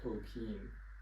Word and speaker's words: Tolkien: I think he himself pronounced his name Tolkien. Like the German pronunciation.